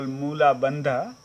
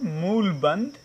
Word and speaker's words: mool bandh: And when we do alak, automatically the mool bandh get applied, what you call moola bandha. The correct pronunciation, mool bandh, will be applied.